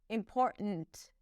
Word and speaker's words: important: And then there isn't really a T there. It's a glottle stop. And then she releases the T. It's not a hel when she pronounces it. It's just important.